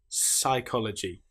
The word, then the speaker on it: psychology: Here we don't pronounce the P at all. We just say pronounce the S sound. Psychology.